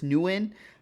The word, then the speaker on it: Nguyen: I believe it's Nguyen.